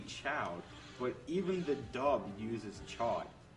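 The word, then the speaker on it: Chaud: because it's aen yeah it's a French word so it should be Chow but even the dub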